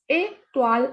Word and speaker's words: étoile: Étoile is star. When we have accent on E, the pronunciation is A. So this is étoile.